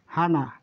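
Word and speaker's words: はな: তারপর এটি হা, সরি, তাহলে এটির উচ্চারণ কি হবে? হা, হানা, হা না, হানা মানে নাক, হানা মানে নাক, হানা মানে নাক।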